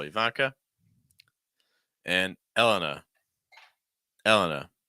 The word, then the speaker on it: Elena: second syllable Ivanka and Elena Elena stress the first syllable generally okay Elena Elena you